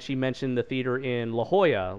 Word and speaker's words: La Jolla: La Jolla being like this. La Jolla is kind of like the Beverly Hills of San Diego, where it's like, it's spelled like this, like J O L L A.